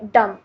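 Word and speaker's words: dumb: हमारे पास है डम डम में हमारे पास बी जो है वह एक साइलेंट लेटर है डम एक ऐसे इंसान को कहते हैं जिसमें ज्यादा अकल ना हो डम में हम बी जो है वह लिखा जाता है लेकिन बोला नहीं जाता विसल विसल सीटी को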